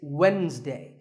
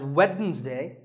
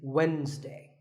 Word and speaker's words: Wednesday: of the week it's Wednesday the D is silent sometimes it's pronounced as weddings day but the proper way to say it is Wednesday what about this word